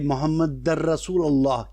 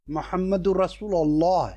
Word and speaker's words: محمد رسول اللہ: نہیں کہہ پاتے تھے۔ کچھ صحابہ نے اعتراض کیا کہ یہ غلط کہتے ہیں، یہ محمد در رسول اللہ کہتے ہیں، صحیح عربی تلفظ اس کا محمد رسول اللہ ہے، تو یہ غلط کہتے